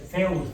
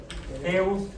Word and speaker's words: Zeus: Zeus porus de hecho Z griega no se pronuncia como la esp mexicano sino más parecido a la z española así la con la lengua en los dientes como si tuviera cillo Zeus A qué se parece